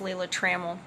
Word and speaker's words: Lila Trammell: ka at Rimmel actually my name is correctly pronounced Lila Trammell and like I said